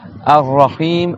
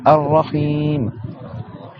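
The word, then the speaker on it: الرحيم: Ar-Rahim, shadda sur le ra, et le ha, on prolonge. Ar-Rahim.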